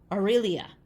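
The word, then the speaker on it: Arelia: is named AR Ariel aelia aelia I think is how you say it um I could be wrong it's a r e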